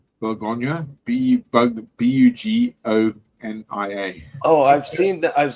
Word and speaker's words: Bugonia: Bologna? Did you see that? Bologna? No. The one with what's her bloody name? Bologna? I can't even say it properly. What is it? Bologna. Bugonia.